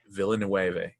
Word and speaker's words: Villeneuve: And for, I never can pronounce the director's last name. Villeneuve.